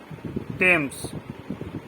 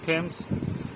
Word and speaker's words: Thomas: থমাস আমরা বলি, বাট আসলে টমাস, THOMAS, টমাস। আমরা কি থ বলছি? বলি তো, কিন্তু ওটা কারেক্ট নয়, টমাস।